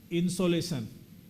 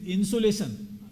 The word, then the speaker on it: insolation: were not expert so I said insolation then someone said is it insulation I said no it is not insulation insulation is different it is insolution so we have to pronounce correctly okay so that people don't get confused okay so it is insolation not insulation clear so here I